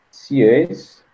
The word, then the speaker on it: Sieyès: O 18 de Brumário ocorreu porque os burgueses, liderados por Sieyès, é que eu acredito que a pronúncia é essa, já que é francês, entendiam que deveriam acabar